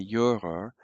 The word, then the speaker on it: Juror: So I was as a juror, and notice that the J's are pronounced like a Y, so we say juror, or I was as a juror or as a judge, at so many, Wettbewerben is competitions.